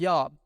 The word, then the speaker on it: Job: Furthermore, Job's name was not pronounced with a J, but a Y, so it would have sounded like Yob, like Jethro, the priest of Midian.